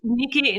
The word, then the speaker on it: Knickey: Nikki. It's spelled Knickey. Yeah, Nikki.